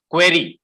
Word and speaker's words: query: care of the queries and not queries what you're pronouncing is a different word all together pory is a different meaning query i take care of